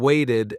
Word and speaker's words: waited: Waited, i d sound. Extra syllable. Say it. Waited.